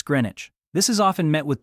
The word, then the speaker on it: Greenwich: Green witch, Luga, Baruga, Edinburg. Each pronunciation delivered confidently, each one wrong in a way that suggests no research was attempted. Britain does not interrupt. Britain lets the pronunciation finish. then gently says, "Right, it's Greenwich."